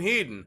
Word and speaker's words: Hedon: sniper or you mean heaton he didn't yeah i pronounced that hedon yeah that's right i pronounced the thing correctly because apply directly to